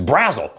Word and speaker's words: Brazzel: that's not his name it's brazil like razzle dazzle razzle dazzle brazo that's how i